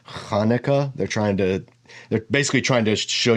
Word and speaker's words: Hanukkah: It's not Chanukah, it's Hanukkah.